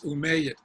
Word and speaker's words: Umayyad: pronunciation please brother islam umiyah or omiyada i saw two different pronunciations for what's that proper pronunciation is umayyad oh may thank you